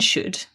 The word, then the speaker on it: should: thing about shouldn't and should is that they contain another silent letter don't they there is a silent l in there s h o u l d should that's right we've got